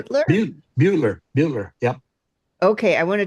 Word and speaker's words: Butler: Am I pronounced Edith Butler, Beutler? Butler.